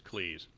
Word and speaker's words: Cleese: stuck with Cleese and that is how you pronounce it as Cleese if he was the guy who walked in